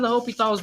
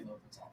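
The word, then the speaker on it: L'Hôpital: the H is silent.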